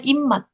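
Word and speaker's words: 입맛: IPM bacanya immat.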